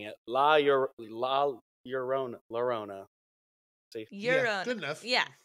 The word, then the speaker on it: La Llorona: So this wasn't the two this, L's is a Y sound. Like tortilla. and you think I knew that I'd know that. But La Llorona.